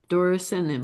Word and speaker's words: Dorycnium: It's d o r y c n i u m. Dorycnium.